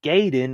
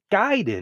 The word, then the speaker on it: Gaiden: Flash not the flesh that's how y'all sound saying gayen instead of guiding that's how Y sound